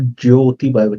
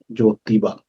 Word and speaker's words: ज्योतिबा: ज्योतिबा, ज्योति मतलब वो लाइट वाला ज्योति नहीं, जोतने वाला ज्योति ना, ज्योतिबा, नॉट ज्योतिबा नहीं है। तो प्रोनाउंसिएशन देखिए कि हम हमेशा उच्चारण में आधा ज यो फिर ती, वो ज्योति नहीं है ये। पूरा ज ओ की मात्रा ती बा, ज्योतिबा।